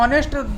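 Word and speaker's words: honest: ऑनेस्ट में क्या है, एक चीज़ और ध्यान रखने वाली है कि एच साइलेंट रहता है इसमें, तन्वी एच साइलेंट रहता है, मालूम है ना, ऑनेस्ट में एच साइलेंट रहता है, इसको ऑनेस्ट पढ़ते हैं, यहाँ पर एच का उच्चारण नहीं करते, हॉनेस्ट नहीं पढ़ते, ये इंग्लिश का अपवाद है।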